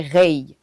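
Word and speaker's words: Raye: Je dirais Rihanna plus rapidement, mais musicalement vraiment, je dirais Ray. C'est une artiste qui est en Angleterre, à Londres. Et voilà. Ça s'écrit R-A-Y-E.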